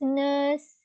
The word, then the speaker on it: nurse: But we may not to pronounce R here.